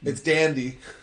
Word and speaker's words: DandE: So is it DandE, or is it? Or you want to pronounce DandE or D&D? We want it to be DandE specifically because DNE There's a K-pop Yeah, because band.